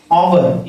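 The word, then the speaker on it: hour: लिखा एच है लेकिन इसका जो प्रोनाउंसिएशन होगा इंग्लिश में इसे आवर यानी आवर आवर पढ़ते हैं।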